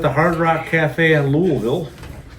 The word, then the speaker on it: Louisville: This was at the Hard Rock Cafe in Louisville. Louisville from people from Louisville. For all other people, it's Louisville.